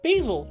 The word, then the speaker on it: Basil: I'm Basil, like the plant.